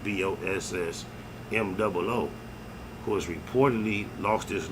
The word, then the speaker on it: BossMoo: But Chief Keef has an artist named BossMoo, I believe is how you pronounce it, BossMoo, who has reportedly lost